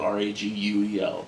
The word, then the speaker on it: Raguel: I always think of Ragu when I say that because it's spelled R-A-G-U-E-L. But Raguel. It's probably like, no, Ragael would be different. Raguel. It's fucking Raguel.